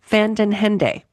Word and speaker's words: Van Den Hende: I'm going to look at the pad while I say her name because I know I'm saying it wrong. Carol Fandenhende. She was very, very sweet and said, "Oh, you're saying it right."